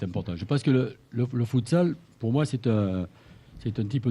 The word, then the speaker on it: futsal: À l'espagnol, futsal.